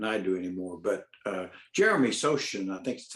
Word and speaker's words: Sochan: But Jeremy Sochan, I think that's how you pronounce his name. Sohan, yeah.